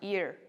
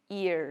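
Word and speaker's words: heir: and are right so since H is silent and we are pronouncing the vowel sound that is why we put and same here also and ear H E I our ear so we don't say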